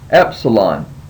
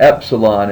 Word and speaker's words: Epsilon: a a vow here Epsilon and Epsilon is pronounced as the e in met so anytime you see the